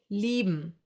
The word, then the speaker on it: lieben: I-E will be pronounced like a long, slow E, like for example in cheese. Another German diphthong. A few more examples for this sound would be lieben, to love, or Bier, beer.